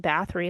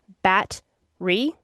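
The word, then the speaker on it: Báthory: Also, so apparently, I don't know if you knew this, her name is not pronounced Baie like we've been pronouncing it. Apparently it's historically pronounced Batri.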